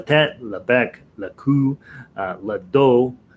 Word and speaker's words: le dos: La tête, le bec, le cou, le dos. You don't pronounce the S on the end of those words.